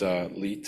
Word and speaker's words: Leite: Myself, I'm Leite. It can be pronounced many ways, but Leite is pretty good as well.